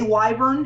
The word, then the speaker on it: wyvern: pronounced sigil not sigle it's pronounced um wver I guess you can say wyvern if you really want to let's keep moving let's